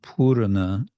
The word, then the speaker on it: purana: Vanchita is desire, and purana is with an extra syllable, otherwise in Sanskrit, purna, purana, so full desire.